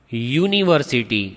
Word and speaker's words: university: University. Speak that again. University. So you pronounce with Y sound, not with U sound. So we write a university. Pronunciation is Y, university.